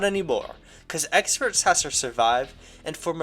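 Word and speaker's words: X-Perts: Experts, but with a, spelled like with the letter X, like it's kind of like X-Men.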